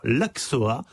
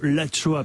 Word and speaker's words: axoa: appelée tout à l'heure l'Axoa. Et c'est plutôt l'Achoa, puisque nous sommes dans le Pays Basque.